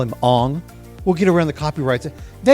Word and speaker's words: Aang: They said Aang. No, it's not Aang. It's Ong.